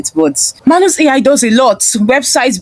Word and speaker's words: Manus: So I said I was exploring Manus AI, though it didn't get the pronunciation correctly here. It's supposed to be Manus, but I said I'm exploring Manus AI, and I wanted to create a portfolio website for my brand.